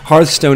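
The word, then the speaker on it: Hearthstone: want to pronounce it I've always said but uh because like hear and home you know but apparently people uh people don't pronounce it that way they say Hearth hearth stone is really nice for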